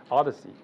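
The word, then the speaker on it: OHDSI: science and information informatics pronounced the Odyssey which is purposed to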